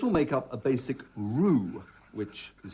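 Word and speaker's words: roux: make up a basic Rue which is spelled rux like Rooks but is pronounced Rue by the way this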